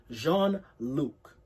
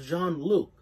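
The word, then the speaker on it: Jean-Luc: in nicholas's squad named jean luke and i believe he's french so should be pronounced jean but yeah so when we in the flashback we're in the perspective of john luke and he admits that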